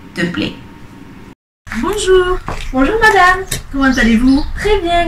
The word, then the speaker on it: comment allez-vous: Habéis visto que la T se pronuncia porque está seguido de una vocal. ¿Comment allez-vous?